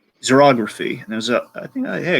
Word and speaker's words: xerography: He used, I want to butcher how this is pronounced, xerography. And there's I think, hey, I got it right. Well, Xerography, xerography yeah, that's right.